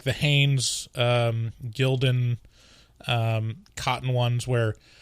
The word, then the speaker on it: Gildan: i've bought so far like the hanes um gildan um cotton ones where it's like your generic t-shirt like 90s it's pronounced glidden is it glidden yeah are you sure yes